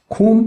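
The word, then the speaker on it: 곰: गोमो लेख्दाखेरि चाहिँ गोमो, तर हामीले ग चाहिँ अगाडि आएको खण्डमा ख भनेर पढ्नुपर्ने हुन्छ। त्यही भएर यसको उच्चारण के हुन्छ त खोम भन्ने हुन्छ।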